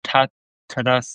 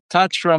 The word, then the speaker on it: Tatra: it wrong here, but it was Tatas and Fagaras. Is that Yeah, right? Tatra Mountains and Fogaras Mountains in Romania. Fagaras. Yeah.